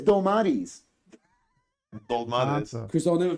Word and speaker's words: Dolmades: It's Dolmades. I'm even confused how I say The it. D, don't the know. D in Greek is pronounced like a TH.